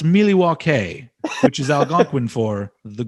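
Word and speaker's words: Milwaukee: member i was unaware of that actually it's pronounced miliwa k which is algonquin for the good land i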